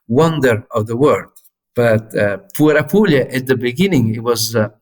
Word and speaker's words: Puer Apuliae: Because the last two words are A and E, and those are Latin words, and in Latin, A and E are read E. Okay. You just don't pronounce the A.